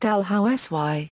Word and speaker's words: Dalhousie: any other in Scotland the title of the eldm is pronounced DH house y Lords Ramsey of delh Housey George Ramsey first Lord